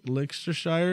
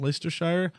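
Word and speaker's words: Leicestershire: gonna pronounce this right like a shire like liquor Shire and Leicester shire yeah he has an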